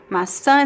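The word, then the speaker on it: maçã: We do have a graphic accent on top of the last vowel, the tilda. Masa is the the fruit apple.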